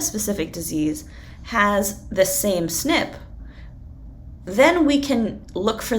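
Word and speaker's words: SNP: And so what we'll find is something called a single nucleotide polymorphism or a snip. And it's pronounced snip like you would snip something with scissors.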